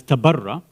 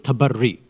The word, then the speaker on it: tabarri: Sometimes it's mentioned incorrectly as tabarra. Tabarra is an incorrect pronunciation of the real word. The real word is tabarri, right?